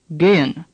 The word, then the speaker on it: gehen: The second E is pronounced like the second E in Bremen. The H is barely pronounced at all. Gehen.